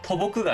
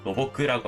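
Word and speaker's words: 土木: 토목도 토보크가 아니라 노보크라고 하고요.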